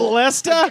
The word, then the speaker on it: Leicester: So I'm going to need John, to your point earlier, how the fuck do you pronounce that? Wow. Is that Leicester?